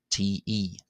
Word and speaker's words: ϯ: But really it should be te because uh it would only ever really be